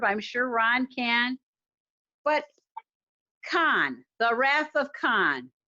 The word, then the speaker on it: Khan: He said I mispronounced Khan. It's not Khan, it's Khan.